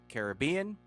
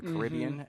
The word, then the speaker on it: Caribbean: golden age of piracy in the Caribbean, or the Caribbean, as you can say it properly.